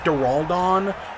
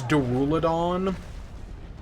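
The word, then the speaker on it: Duraludon: with my favorite D I always pronounce it duraldon I know it's duruladon but my Mecca right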